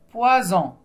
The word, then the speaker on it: poison: a deux très bien poison oui S se trouve entre de vOYEL et se prononce comme un Z donc on ne voit